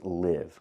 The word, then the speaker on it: live: words the first word is live with the short I sound like this is live I like to live in the moment and the second word is leave with the long e sound like green beans leave